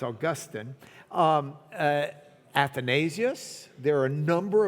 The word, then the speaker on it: Augustine: And Augustine of Hippo, if you really want to know how to say his name and not sound like you're from Lubbock, it's Augustine.